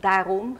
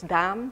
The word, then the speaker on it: daarom: So for instance, in Dutch there is the word daarom, meaning therefore, and it can be pronounced as daam, so daarom instead of daam.